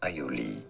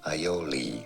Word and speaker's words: aioli: In French, it is said as aioli. Yeah. In English, aioli. Oh, although yeah? some also pronounce it as aioli, aioli. But to sound a little more French, aioli, aioli.